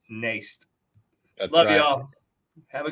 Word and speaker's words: Nijst: us a share uh please go follow Nace nij St it spelled like niched but it's pronounced naste I love y'all have a good hi everybody